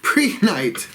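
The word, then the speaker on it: Prehnite: how you say it, PRE, which would be pre, but then it's got an H, N-I-T-E, pre-night, pre-night, sounds like it makes you want to cough a little bit.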